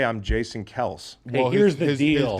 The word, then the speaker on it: Kelce: Somebody's telling me it's pronounced Kels, not Kelce. It is. It actually Yeah, but I've is. never heard him say I'm Jason Kels.